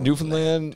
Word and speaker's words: Newfoundland: this newfoundland newfoundland yeah so so newfoundland newfoundland newfoundland you gotta say it like that though man newfoundland new newfoundland